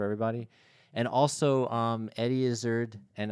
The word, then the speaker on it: Izzard: and also um Eddie Izzard and I've heard people pronounce it is Art but I'm not comfortable with that um that's where your